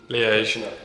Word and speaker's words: Liège: Liège? Liège.